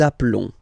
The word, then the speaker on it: appelons: So let's pronounce the whole thing again. Nous appelons. Nous appelons. Okay, final s doesn't exist.